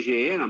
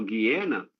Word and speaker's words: Geena: Mas o lago de fogo, o Guiena, eu chamo de Geena, mas a pronúncia correta é o Guiena, ele está vazio.